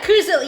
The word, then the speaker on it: Coozilla: Oh, but yeah, we do C-double-O. Yeah. Like moo, but with C instead.